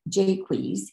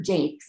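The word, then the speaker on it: Jaques: So he called that brother Jakes and called the clown character Jakeweez.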